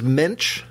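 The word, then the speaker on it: Moench: I believe it is Munch, and that is according to a once long ago Marvel put a pronunciation guide.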